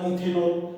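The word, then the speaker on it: ethanol: 8 plus N plus all एथेनॉल, अंग्रेजी में उच्चारण होगा इथेनॉल।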